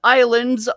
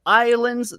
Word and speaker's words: islands: if you type in islands all uppercase islands that's spelled i-s-l-a-n-d-s the s is silent i don't know why